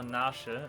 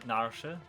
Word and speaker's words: Narshe: I'm still not sure if it is called Narsh or Narshe. I think it's actually called Narshe. I think Narshe is the correct pronunciation of that place in Final Fantasy VI.